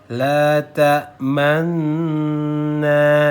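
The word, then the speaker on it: لا تأمنا: Bibirnya dimonyongkan ketika di nun sukun pertama, kemudian ditarik lagi, kemudian baru disempurnakan bacaannya.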